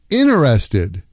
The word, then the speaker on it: interested: What's my incenive Interested. Interested becomes inerested. Inerested. Are you inerested in modern art?